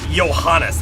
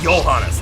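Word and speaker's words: Johannes: his blood an exorcist like me yeah johanes it should be yanas not not not J devil jeble I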